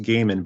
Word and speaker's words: Goeman: pronounced that correctly because most people don't know how to pronounce that yeah well I got